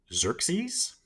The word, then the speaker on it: Xerxes: So the Persian king, I have the pronunciation here. It's Xerxes, the Persian king Xerxes, had sent an envoy to Sparta asking for earth and water.